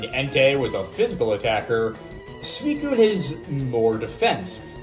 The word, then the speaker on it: Suicune: Suicune, yes it's pronounced Suicune and not Suicune for some godforsaken reason, is the third of the 3 sacred beasts.